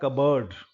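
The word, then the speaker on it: cupboard: लेकिन ये इकट्ठा जब होता है तो इसको बोला जाता है कबर्ड। इसमें प गायब हो जाता है।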